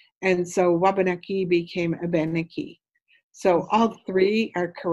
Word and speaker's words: Wabanaki: So the Algonquin word is Wabanaki. Waban is white, Aki is land.